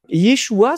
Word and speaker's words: Yeshua: Yeshua, c'est le nom de Jésus prononcé en aramé.